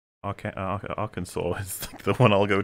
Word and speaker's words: Arkansas: if someone said well if someone did look at arkansas and they said are kansas then i'd be like i don't blame you for saying that it's literally a state with an ar in front of it well that's the